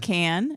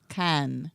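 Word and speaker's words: Cannes: can cast on and it's not can but it's can can can dan it's like Japan it's like attention there you can and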